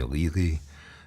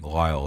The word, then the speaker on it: Lyall: My own name is is rarely pronounced correctly in America. People call me Ley. They just cannot cannot possibly comprehend that Lyall is a name even though it's it's in the culture.